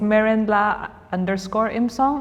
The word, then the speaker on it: Merenla Imsong: it's a not a very easy name to pronounce it's Marin lacore imong I think it's my name you look my